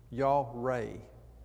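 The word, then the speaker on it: יָרֵא: american standard says terrible the word there is y'all ray is the way it's pronounced why aw dash ra ngoai with the emphasis on the ray the word does mean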